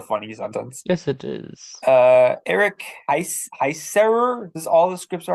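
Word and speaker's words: Eric Heisserer: Eric Heiserer is all the scripts are already written and the potential Shadow and Bone spin-off series, Six of Crows.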